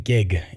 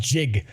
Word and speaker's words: jig: When did people start saying gig is up? It's pronounced jig.